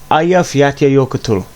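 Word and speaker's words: Eyjafjallajökull: find in iceland and the way to pronounce it is ayaf yatta yokota that's my best attempt i could give to you on short notice but aya yokotan or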